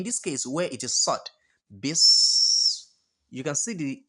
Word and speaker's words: ص: So when you are eating, there's this particular sound that comes out like s. You understand? S. That particular sound, you have to pronounce sod in that way.